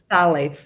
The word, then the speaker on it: phthalates: Phthalates, if you want to spell it, right? But it's pronounced phthalates.